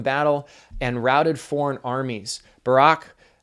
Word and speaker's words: Barak: Barak is how you pronounce that.